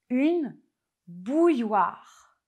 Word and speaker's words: bouilloire: Commençons tout de suite avec le premier mot qui est vraiment très difficile à prononcer en français. C'est le mot une bouilloire.